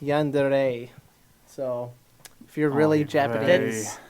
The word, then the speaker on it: yandere: it depends on the context sometimes it's actually pronounced yandere so if you're really generous that there is